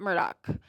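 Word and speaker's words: Murdaugh: in that you would say murd but they pronounce it Murdoch so I'll I'll use that pronunciation throughout the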